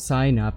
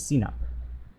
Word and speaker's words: Sinop: It's not sign up, it's Sinop. Sinop.